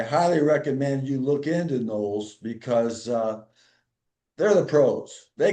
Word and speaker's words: NOLS: Is that how you pronounce it? NOLS? Yeah, NOLS.